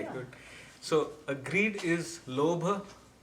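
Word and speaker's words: लोभ: So, greed is lobha. How do you spell that?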